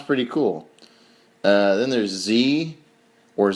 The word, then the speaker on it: xe: pronunciation of it yeah it's pronounced just like Z only it's x e and then you could